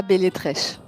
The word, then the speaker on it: Beletreche: Ça se prononce Belletrèche.